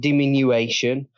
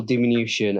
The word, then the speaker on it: diminution: that I speak to it's not demean you Asian it is vehicle diminution and basically what it